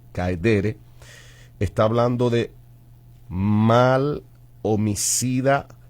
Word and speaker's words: caedere: La palabra sui en latín significa de sí mismo, y la otra palabra es caedere o caedere con acento en la ed, caedere.